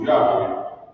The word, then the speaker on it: Yahweh: So as represented by these four characters, it is pronounced Yahweh by the people speaking Hebrew.